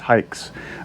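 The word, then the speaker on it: Haix: company and it is it is spelled h-a-i-x it's pronounced hikes very good boots you'll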